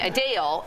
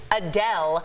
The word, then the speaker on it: Adele: forward I'm worried about saying a Dale and then all the viewers out there who never heard this once yeah being like why is she pronouncing Adele Adele exactly can you can we come out the middle and just say like Adele just no no more